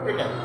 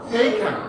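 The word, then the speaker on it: taken: কি বলি টেক টু আসলে এই টিটা ঠ উচ্চারণ হওয়া উচিত কি উচ্চারণ হওয়া উচিত ঠ ঠ তাহলে থেইক ঠেইক ঠু ঠু ঠেকান থেইক থেইকা ঠেকান টেকেন না বলি আসি ঠেক ঠেকান তাহলে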